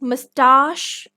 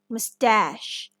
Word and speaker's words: mustache: parachute the word is mustache and mustache this word is pronounced as well as written differently in British and American English in American English we